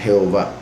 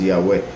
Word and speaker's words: Yahweh: o en este caso transcribiéndolo como Jehová, que llegó a ser en español Jehová, pero la verdadera pronunciación, el verdadero nombre es Yahweh, y él dijo que